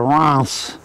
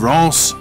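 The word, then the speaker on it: Reims: off to you know then we're off to russ france in france it's pronounced rant spelt r-e-i-m-s isn't it that's right champagne territory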